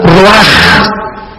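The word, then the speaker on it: רוח: Se pronuncia la CH no veo como J roaja.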